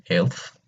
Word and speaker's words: elf: 11 is elf.